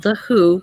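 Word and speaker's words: The HU: It's called The Who, but it's not spelled the same.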